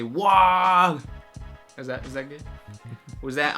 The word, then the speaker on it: WAAGH: Alfarius says, you pronounce the G, but it's a bit faint, and it sounds like it's pronounced nor or more towards the end of the word. So when I say WAAGH, is that good?